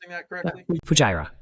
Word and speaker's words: Fujairah: Je le prononce bien? Fujairah.